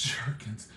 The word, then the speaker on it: gherkins: I thought it was baby gherkins. Gherkins? Is that a real word? How about we just go with baby sweet pickles? Yes, it's pronounced jerkins.